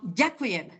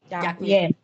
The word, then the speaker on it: ďakujem: Now, ďakujem. The D, we must have like the dot. The V shape Softness, on the D. softness, mekče, aha. Ďakujem. Ďakujem, not long, okay.